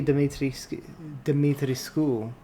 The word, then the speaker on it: Dimitrescu: Although Lady Dimitrescu, which is, like, I guess the Romanian pronunciation, she was a little bit more challenging even with this thing.